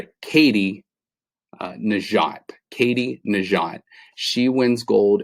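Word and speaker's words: Katie Nageotte: It's Katie Najat.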